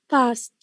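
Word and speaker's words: passed: past. Ta sound. كأنه تا. Yes. Past. So it has exactly the same pronunciation as PAST.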